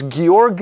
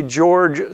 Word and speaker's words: Georg: His name is Georg Simon Ohm. Now, if we pronounce it according to English pronunciation, we would say George Simon Ohm.